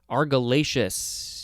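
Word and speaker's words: argillaceous: pretty damn good all right next we have argyllacious yeah that's how it's pronounced a-r-g-i-l-l-a-c-e-o-u-s this is an adjective from circa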